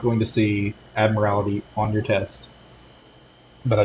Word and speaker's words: admiralty: Admiral admiralty quote codes I can never pronounce it right not admirality but admiralty because it was a